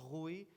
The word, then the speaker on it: Rui: everyone my name is pronounce it well it's rui but if you are Russian speaking this is a very bad word but thank you very